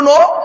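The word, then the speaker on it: know: দুটি উচ্চারণ শুন তো এক কিন্তু মানে আলাদা নো কে এন ও ডব্লিউ নো নো মানে জানা আর এন ও নো মানে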